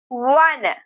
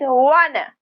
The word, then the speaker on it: wanna: Wanna. Some people pronounce it wanna, others wanna, with more of an O sound.